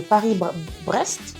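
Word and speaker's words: Paris-Brest: Le Paris, je sais même pas comment le prononcer. Le Paris Brest.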